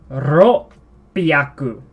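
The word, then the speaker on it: 六百: Ro piaku. Ro piaku. So you say ro, and then with a slight pause, piaku.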